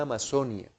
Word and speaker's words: Amazonía: me relaciono se ama a pesar de que se escribe con c de conferencia suena así lo que se ama ahí está la conversión